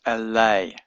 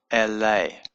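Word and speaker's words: אלה: Hebrew, the word is elay. Aleph, lamed, hey. Elay. This would say elay, but because it's followed by a hey, that lengthens the eh sound.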